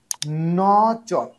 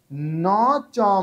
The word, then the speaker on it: ন চ: ন চ, এখানে নচ বলবেন না, ন চ।